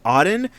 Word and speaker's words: Auden: be Furnishing today is called the Odin a u d n I think that's how you pronounce it the Odin this house just by